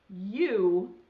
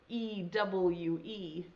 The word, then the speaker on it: ewe: The mommy sheep is called a ewe, like the letter U, but it's spelled E-W-E, ewe.